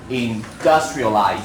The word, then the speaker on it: industrialize: And the verb form industrialize still on the second syllable.